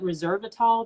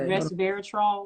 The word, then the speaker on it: resveratrol: it's really good with and resveratrol oh is that how you say it yeah fate rest wrestling i think that's what let me see let me see i think that's what she's trying to say resveratrol yeah resveratrol that's really that's good